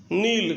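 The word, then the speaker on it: kneel: नील, घुटने टेकना, नेल्ट, नेल्ट, नीलिंग, नील्स। क्योंकि एन के पहले के हो तो के साइलेंट होता है, ये याद रखें, बुलता नहीं है, मतलब लिखा जाता है केवल।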